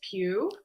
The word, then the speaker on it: Pugh: Sorry, I'm terrible about pronunciations. Timothy Chalamet, Zendaya, Austin Butler, and it's actually Florence Pugh.